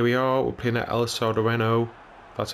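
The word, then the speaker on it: El Sardinero: And here we are, we're playing at El Sardareno, that's how you pronounce it.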